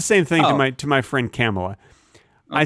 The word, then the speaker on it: Kamala: Here's you should probably pronounce it Kamala. No, I pronounce it Kamala. She likes it Kamala. Okay. It rhymes with camel.